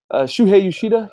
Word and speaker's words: Shuhei Yoshida: Shuhei Yoshida.